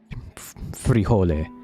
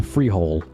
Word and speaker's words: frijole: right because for example if you take the word frijole which means bean in Spanish frijole a non-english because they can't really roll their R's you know their eres they can't roll their R's and the pronunciation is not familiar so they'll say something like the the Freehold or the freejole or the fragiles and we make fun of that because it's not correct how you pronounce it